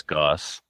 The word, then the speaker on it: Goos: Goose, it's Goss. Goss? Yeah, G-O-O-S is Goss? It is. Sorry. That's how it's pronounced.